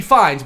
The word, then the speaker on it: Fiennes: you know I think I think it's supposed to be fines but it is spelled like fee is yeah so I would